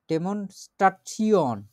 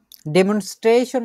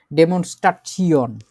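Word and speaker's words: Demonstration: তারপরে আছে ডেমনস্ট্রেট করা বা প্রদর্শন করা, এটারে আমরা ডেমনস্ট্রাচিয়ন, দি ডেমনস্ট্রাচিয়ন, ডেমনস্ট্রেশন না, কিন্তু এটা কিন্তু ইংরেজিতে ওরকম ভাবে বলে, ডেমনস্ট্রাচিয়ন, জেনারেশন, কোয়ালিফিকেশন, আরো এরকম টাইপের যেরকম জিনিসগুলো আছে এগুলোকে সব এইভাবে করে উচ্চারণ করতে হবে, ডেমনস্ট্রাচিয়ন।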